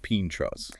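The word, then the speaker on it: pintxos: If you head north into the Basque country, tapas basically transforms into pinsos. Right. Pronounced pinchros.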